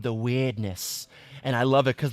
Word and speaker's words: Wyrdness: The weirdness is spelled WYRDNESS. So just take out the EI and it's weirdness. But so like basically the